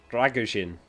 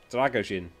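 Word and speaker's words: Drăgușin: correctly pronounce dragin so the S is basically a sh in English and the a is not like a simple a it's more from the back of your neck dragin dragin like that you know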